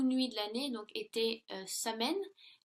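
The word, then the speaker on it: Samhain: de l'année donc était samen donc qui est prononcé qui se prononce soyen et donc il croyait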